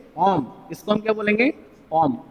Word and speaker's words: ओम: Right, this is called the ऐसा unit of resistance whose pronunciation is ओम.